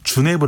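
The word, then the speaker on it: jenever: 특히 네덜란드어로 읽을 때 , 만약 철자 가 그렇게 읽힌다면 영어 이름 은 " 제네버 " 라고 발음 합니다 . 하지만 " 제네버 " 의 발음 을 들으면 " 이건 도시 이름 과 비슷하게 들리네 요 ."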